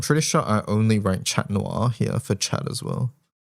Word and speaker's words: chat noir: Just mentioning chat is pronounced chat. Oh, because it's French. Chat noir.